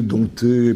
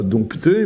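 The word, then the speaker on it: dompter: sur un certain nombre tout le monde sait don pas dompté mais on l'entend de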